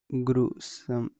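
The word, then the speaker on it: gruesome: एस ओ एम ई ग्रुसम जी आर यू ग्रुसम। कई लोग इसको मारेंगे लेकिन ग्रोसम ये गलत है। दोनों गलत है।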